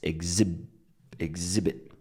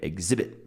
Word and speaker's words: exhibit: Now, where is the stress? It's exhibit, right? Exhibit. My friend said, exhibit. She said, do you know where the exhibit is? And so she stressed the first syllable.